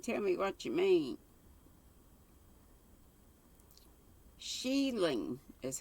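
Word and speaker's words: shieling: come up and tell me what you mean sheiling is how it's pronounced scottish a roughly constructed hut used with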